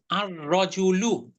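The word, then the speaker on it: الرَّجُلُ: মানে আর রজুলু, আর রজুলু, লামের উচ্চারণটা কি থাকলো? আর আর আর রাজুলু, এটা তো জিব্বার অগ্র ইয়াতে লাগছে, তালুতে লাগছে। সুতরাং লামের উচ্চারণটা থাকলো না।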